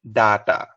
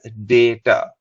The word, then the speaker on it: data: A lot of people would have heard people say data. Now, this is a very Australian way to pronounce it. They say data. But in other places of the world, it is pronounced as data. Repeat after me, data. Once more, data.